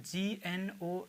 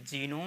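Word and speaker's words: gnome: क्या लिखा हुआ है नो में तो इसको हम जीनोम नहीं कहेंगे जिसमें लिखा गया है लेकिन ये पढ़ा नहीं जाएगा तो इसको आप क्या कहेंगे नो इसको केवल आप पढ़ेंगे नो नो का मतलब होता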